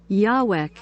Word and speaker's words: Yahweh: Em inglês, Yahweh. Ó, a pronúncia fica um pouco mais, né, Yahweh.